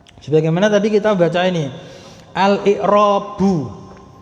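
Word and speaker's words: الإعرابُ: Kenapa bacanya kok al-i'rabu? Kok ndak al-i'raba? Kok ndak al-i'rabi? Nah, itu ada kaidahnya. Karena dia di awal kalimat, namanya mubtada. Kata yang di awal kalimat namanya mubtada. Kalau dia isim ya, isim yang di awal kalimat namanya mubtada, maka dia pasti rofa. Rofanya diantaranya dengan dhammah. Makanya bacanya al-i'rabu.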